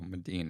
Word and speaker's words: Medin: that whenever someone's like what's your name I go medine and just naturally go